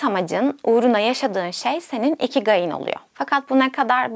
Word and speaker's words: ikigai: ederim Şimdi devam edelim Japonlar bunu iki gay olarak telaffuz ediyor ama sanırım Türkçeye iki gayı olarak geçmiş Ben de öyle bahsetmeye devam edeceğim umarım yanlış bir telaffuz değildir ve bu video boyunca